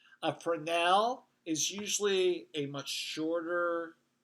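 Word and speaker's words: Fresnel: this light so yes it starts with a capital f and the S is silent frenel a frenel is usually a much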